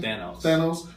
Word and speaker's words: Thanos: Thanos.